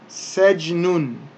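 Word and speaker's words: سجن: So, this word here then is sejnun, or taking that, the ending diacritical marks, the two dhammas off, because we don't pronounce those at the end of a sentence or the end of a word or the end of a phrase when we stop.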